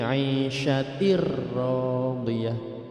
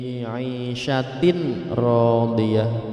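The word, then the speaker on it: عيشة راضية: Kasrah tanwin bertemu dengan ra. Fahuwa fi 'aisyatir radiyah. Membacanya suara mati itu hilang, langsung masuk ke ra, dan di situ juga ada tanda tasydid. Fi 'aisyatir radiyah, tidak boleh dibaca fi 'aisyatin radiyah, tidak boleh, atau dibaca berdengung seperti idgham bi gunnah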